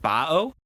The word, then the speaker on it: Baoh: he wants to know it's pronounced bo yeah i knew it